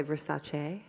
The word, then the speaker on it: Versace: wanted to work with i'm going to say versace that's how i pronounce it but if you're cooler than me you probably say versace but i really wanted